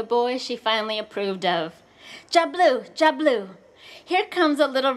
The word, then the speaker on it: Diablo: But the one I love best, Diablo, pronounced Jablu, the devil.